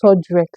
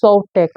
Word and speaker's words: Soltex: She was saying Sodrex. I don't understand. How can you nominate people that you cannot pronounce their names? And even after Big Brother corrected her, it's Soltex. She still said Sodrex.